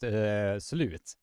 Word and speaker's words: slut: If does it sound slut or slot? That is up to you, but it's pronounced slut.